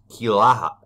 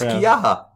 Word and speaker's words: Quillaja: But yeah, whatever it is, it's the word you cannot pronounce is kilaha, kiyaha, Quillaja. Clearly, neither one of us can. No, it's Kiyaha, because the double L is a Y sound.